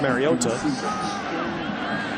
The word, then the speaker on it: Mariota: and that's how he said his name is pronounced Mariota he went to the same High School in